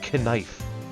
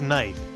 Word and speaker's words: knife: it's written on that kife why do you say it like that what do you mean it's pronounced knife but why is there a k it's silent I mean knives are